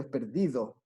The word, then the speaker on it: perdido: yo estudio cuando digo cuando digo esta palabra cargamos la voz en la segunda sílaba y ya si fuera